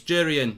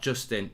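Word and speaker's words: Jurrien: It's Jurian, not Justin.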